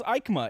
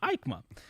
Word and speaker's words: EICMA: right so aikma okay um so what is ikema and ikema is spelled as you guys if you're watching you